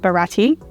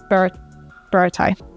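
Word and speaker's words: Baratie: Okay, then we've got Baratai. This one always gets me. I used to call it Barati, which is obviously not how you pronounce it. Baratai.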